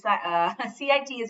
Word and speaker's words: CITES: It is not cities, okay? It's CITES. You pronounce like that.